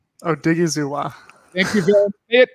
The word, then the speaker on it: Odighizuwa: how about you it's going well can you pronounce osa's last name oh diggy zuwa thank you it say it three times press